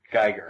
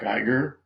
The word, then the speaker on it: Giger: xenomorph was designed by I'm probably going to mispronounce his name HR gerer Giger yes of course now that creature horrible as